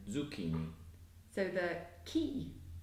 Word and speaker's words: zucchini: If you see a C-H spelling in Italian, it's actually pronounced as a hard K sound, not as a soft ch sound as it would be in English. So it's the opposite to in English. Like in gnocchi and zucchini.